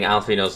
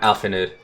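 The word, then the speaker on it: Alphinaud: This is actually the very first time that I'm constantly pronouncing Alfino's name instead of Alfinud. I swear, you call him Alphanud one more time.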